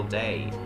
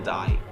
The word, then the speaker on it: Dye: Daniel Dye or Daniel Day? I think it's Daniel Dye. As in hair dye, I don't know.